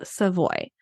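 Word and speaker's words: Savoie: I'm going to recommend to you is called seavoy it is sa a v o i e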